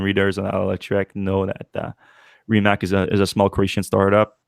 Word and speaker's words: Rimac: Rimac.